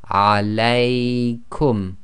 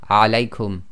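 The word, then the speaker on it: عليكم: Now when you pronounce this, you have to get the lengths right. The diphthong must be too long, so you have to go alaykum. You can't say alaykum.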